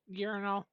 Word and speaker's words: Yornal: Urinal. Like urinal cakes.